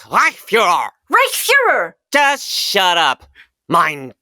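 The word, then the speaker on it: Reichsführer: Reichsfuhrer! Wrong! It's Reichsfuhrer!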